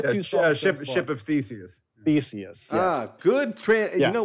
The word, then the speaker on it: Theseus: Theseus, yes.